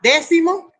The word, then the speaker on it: décimo: Tenemos dos palabras, décimo más séptimo. Se unió la palabra décimo más la palabra séptimo. Décimo es una palabra esdrújula.